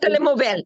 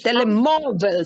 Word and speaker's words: telemóvel: No, not telemóvel. It is telemóvel. See, there is an accent there on the mo.